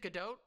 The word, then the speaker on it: Gadot: It's Gadot.